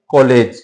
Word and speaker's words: कॉलेज: ये जो ध्वनियां हैं, यानी ये ऊपर जो निशान लगा हुआ है आगत ध्वनि का, इसका जो उच्चारण है वो किन दो ध्वनियों के बीच का है, आ और औ के बीच का है।